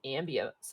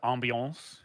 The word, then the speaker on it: ambiance: In the meantime, let me get some ambience up. Yeah. Oh, it's actually pronounced ambiance.